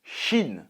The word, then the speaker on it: Shin: Alors, Kin, apparemment ça se prononce Shin.